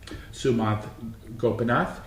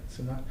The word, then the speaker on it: Sumanth Gopinath: Sumanth Gopinath is an associate professor of music theory and the author of the book, The Ringtone Dialectic. I pronounced that right, Sumanth?